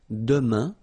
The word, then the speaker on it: demain: For the future now, we've got demain, and it means tomorrow. Demain, remember, when you combine this A-I-N, you get the sound un. Demain, demain.